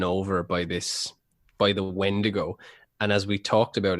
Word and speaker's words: wendigo: this now rhymes with it rhymes with splendo oh the wendigo yeah yeah similar like